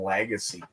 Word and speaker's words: Lagace: last name and and people that can't speak French we just call them Legacy yeah or Legacy the tell I know it's a telemarketer when they say Mr Legacy we're looking for Mr